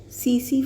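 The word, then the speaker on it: tsetse: CC flee. ठीक है, CC मतलब TSE, इसमें T साइलेंट रहता है, तो CC fly, that is the vector of sleeping sickness.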